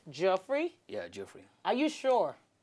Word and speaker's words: Geoffrey: one you're wearing sorry so your name is pronounced jeffrey yeah jeffrey are you sure why why have